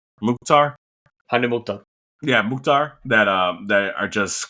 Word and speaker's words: Mukhtar: Mukhtar. Hani Mukhtar.